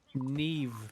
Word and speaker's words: Niamh: Tell me in what world AMH is a V noise. What's the name? Neve, but it's Niamh is how it's spelled.